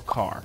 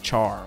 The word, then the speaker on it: char: character in computer science we call car like Char or some yeah Char that's how we say it right chariz Char so